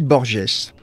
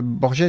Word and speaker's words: Borges: un petit borgesse alors j'essais pas de vous le prononcer à l' à l'espagnol Borges j'en suis absolument incapable j'ai pas fait une 11ce d'espagnol donc je vais dire Borges comme un vilain français que je suis je change momentanément